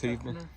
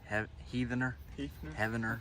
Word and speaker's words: Heavener: I think it's Heavener. Heavener, Oklahoma.